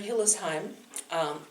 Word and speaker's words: Hillesheim: And I'm Hillesheim. That's the correct German pronunciation.